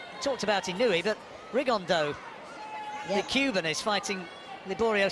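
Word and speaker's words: Rigondeaux: rig on though or as he's correctly pronounced with the uh the Spanish accent rig on down and look two absolute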